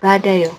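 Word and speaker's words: 받아요: Jadi karena ini ba bukan bat ayo ini digetnya d-nya pindah ke ini ya ke bulat ini jadi badayo. Nah ini bacanya seperti ini badayo.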